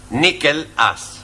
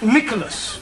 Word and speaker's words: Nicholas: Once upon a time, there was a man called Nickel Ass. That's not quite right. No? No. Once upon a time, there was a woman called Nickel Ass. It's pronounced Nicholas.